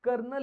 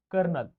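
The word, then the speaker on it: colonel: बऱ्याच ठिकाणी वाचला असेल कर्नल इंग्लिश मध्ये स्पेलिंग काय पी ओ एल ओ एन एल करोल आपल्याकडे ब्रिटिश इंग्लिश मध्ये कर्नल असं प्रोनन्सिएशन केलं जातं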